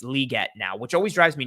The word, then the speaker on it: Legette: single person who did anything with him said Legette Legette Legette and then Goodell said liette and then apparently the Panthers put out a tweet that said it's pronounced liette so I'm just going to call him Xavier